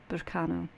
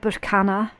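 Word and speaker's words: Berkano: It's very fertile energy, Burkano. It's otherwise called Burkana, but again, depends on what region you want to pronounce it from. They're both correct.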